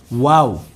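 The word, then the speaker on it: واو: যদি আপনি ওয়াওয়ের মধ্যে সব সময় ঠোঁট গোল রাখতে পারেন তাহলে ওয়াওয়ের উচ্চারণ সবচেয়ে সুন্দর হবে, কোনো প্রকার ভুল হবে না ইনশাআল্লাহ।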